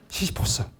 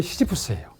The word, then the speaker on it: 시지푸스: 뭐냐면 제가 그 원고에는 그걸 줄을 달아서 표시했는데 그 히라버로 얘기하면 시시포스입니다. 그죠? 시시포스. 그 다음에 영어로 하게 되면 시지푸스예요. 불어로 하게 되면 부드러워. 시지프야. 그죠?